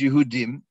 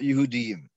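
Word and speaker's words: יהודים: And the double yud would imply that you should read it Yehudiyim. So one read it, but it's a kriksiv, and the correct pronunciation is Yehudim, not Yehudiyim.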